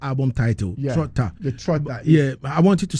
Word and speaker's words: Troptha: The Trotta. Yeah, I want you to spell it. TROPTHA. Okay. Trotta. The Trotta is the ta comes from the PTHA. The PTAH comes from ta as head creator, right?